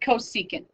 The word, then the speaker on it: cosecant: here and this is cosecant this is secant and this is cotangent so CSC is pronounced cosecant and it's the reciprocal